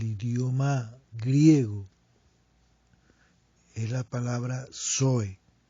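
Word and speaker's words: ζωή: una P-S-U-J-E, puché, y la palabra zoe, que se escribe con Z, Z-O-E, zoe.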